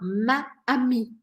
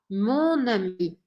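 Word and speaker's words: mon amie: no plural no singular quando a palavra começa com uma vogal eu nunca vou poder falar maami porque fica difícil de pronunciar então ao invés de eu falar maami eu vou falar monami mesmo que seja no feminino mesmo se o que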